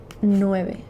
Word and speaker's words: nueve: Nueve. 9. Nueve. N-U-E-V-E. N-U-E-V-E. 9. Nueve. Like noob. New.